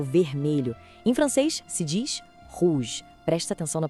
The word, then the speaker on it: rouge: Em francês se diz rouge. Presta atenção na pronúncia. Rouge. O R vem lá do fundo da garganta, sabe? E o final tem aquele somado que lembra a palavra garagem.